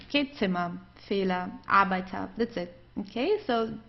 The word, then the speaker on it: Fehler: Der Fehler, der Fehler. So you see, it's just pronounced like an A.